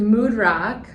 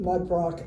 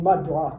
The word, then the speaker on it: Mudrock: heard you say mudrock and I've also heard mood Rock that's that's interesting but when I got married my mother-in-law said you need to pronounce it mudrock otherwise nobody spells it right okay that's true